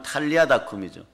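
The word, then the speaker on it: 달리다굼: 자리가 에바다 열릴 것이고 달리아 다구 원래 발음은 탈리아 다 꿈이죠 달리 다고 4 부활의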